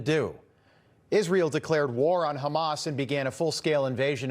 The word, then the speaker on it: Hamas: And on cable news, the anchors were making sure to pronounce Hamas like they say it in Gaza. Hamas, Hamas. Instead of how we would say it here in the West, it's just Hamas.